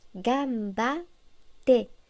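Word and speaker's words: がんばって: Gambatte se prononce gambate. En romaji, nous indiquons la pause avec deux consonnes identiques, comme ici avec les deux T. En hiragana, il faut ajouter un petit tsu.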